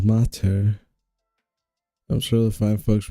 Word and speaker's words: mater: Pronounced mater.